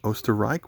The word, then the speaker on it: Österreich: Their country is pronounced Österreich when you look around it.